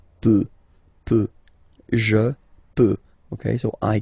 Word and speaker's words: peut: Je peux, tu peut. Then, il, elle, peut. So you will put T at the end, you don't pronounce it.